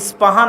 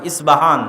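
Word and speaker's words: اصفهان: আমরা প উচ্চারণ করি ইস্পাহান, আরবিতে এটা উচ্চারণ হয় না। আরবিতে হয় আল আসবাহানি, বা উচ্চারণ হয় ইসবাহান বা আসবাহানি।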